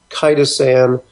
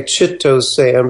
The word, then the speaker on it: chitosan: you can look for it's actually called uh micro kitosan some people say chitosan because it's spelled like Ci T OA in okay um and those